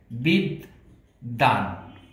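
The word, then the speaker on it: বিদ্বান: যেমন এই দয়ের সাথে বফলা আছে, এই বয়ের উচ্চারণটি হবে না, না হয়ে এই দ দুইবার উচ্চারণ হবে। যদি উচ্চারণে যাই তাহলে উচ্চারণের বানানটি হবে এরকম, বিদ দান।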